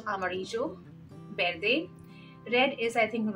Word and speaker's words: amarillo: here V is D and Double L is show so Amarillo birthday red is I